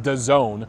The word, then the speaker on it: DAZN: They have a streaming service, DAZN, it's pronounced DAZN.